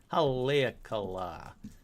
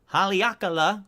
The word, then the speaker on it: Haleakala: Hold on, let's find out how to pronounce Haleakala, because I should have done this before the episode started, but why wait till then?